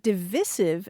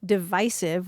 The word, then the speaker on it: divisive: heritage's usage panel because in 2013 divisive was the preferred pronunciation of 88% of their usage panel which is made up of of people of letters and back in 2001 the short eye rhyming with permissive was acceptable to only